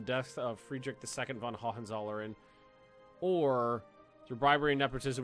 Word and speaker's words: Hohenzollern: That ho is pronounced ho. Hohenzollern? Okay, good to know. Hohenzollern, not Hohenzollern.